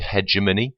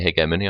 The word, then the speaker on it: hegemony: uh note on pronunciation some people say hegemony I say hegemony I think it sounds better so let's crack on